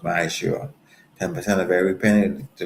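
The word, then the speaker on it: מעשר: It's tenth in the Hebrew and it's pronounced Ma'ashur.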